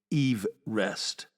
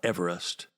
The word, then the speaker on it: Everest: George Everest pronounced his surname Everest, not Everest, which means, yes, we've all been getting it wrong.